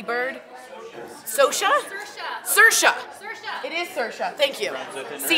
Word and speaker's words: Saoirse: It is Saoirse. Thank you. See, it's something very strange. It's spelled like S-A-O-R-I-S, click, click, E. But it's Saoirse, and she's phenomenal.